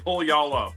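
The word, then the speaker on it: Puyallup: Pull y'all up Washington if that's how you pronounce it. Pwal. I say it's pull y'all up.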